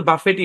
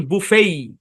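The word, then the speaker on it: buffet: শব্দের উচ্চারণ বাফেট না এই শব্দের উচ্চারণ বুফেই কি উচ্চারণ বুফেই টি সাইলেন্ট শুধু টি সাইলেন্ট তা না এই ই থেকে এ লং সাউন্ড দেয় বুফেই এরকম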